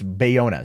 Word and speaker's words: Bayona: boy a now is at boyega or Buena am I saying it wrong it's Bayona sorry I've messed that